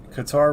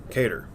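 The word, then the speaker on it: Kattar: So Qatar versus Emmett. I was in the stands. I was at this fight. I thought Qatar won. Cater.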